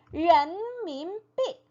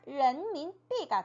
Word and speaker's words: 人民币: 네, 人民币, 人民币, 人民币. 네, 이 인민폐를 중국어 발음으로 하면 人民币가 됩니다.